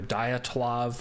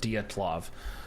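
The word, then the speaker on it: Dyatlov: gotta look into that it depends on how you pronounce it you know it's either diatoid or diatlov um d-y-o-t-l-o-v diatlov diatlov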